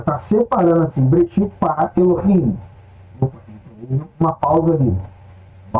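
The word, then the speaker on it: אֱלֹהִים: colocado embaixo aqui então Lemos Elohim que não é Elohim Ok então já tá separando assim brexit para Elohim op uma pausa ali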